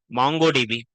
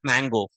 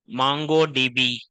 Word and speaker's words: MongoDB: First MongoDB just for information because some people confused earlier I'm telling you it's not mango and as earlier someone